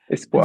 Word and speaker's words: Espoir: It's called the Espoir. Am I pronouncing that correct, Juan? Yann? Yeah. Espoir.